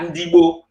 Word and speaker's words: Ndibo: Like me, I know Igbo, we are Ndibo. It's when Oyibo came, they changed our pronunciation from Ndibo to Igbo because they can't pronounce it very well.